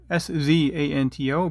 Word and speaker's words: Szanto: So just remember, it's SZanto, but the Z is silent.